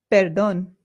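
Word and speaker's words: perdón: Perdon peron. Remember that the accent in Spanish indicates where the stress in the word is. So this is not peron it is peron and this also means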